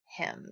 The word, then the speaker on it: hymn: Y M n but we pronounce it him just like give this to him okay so now we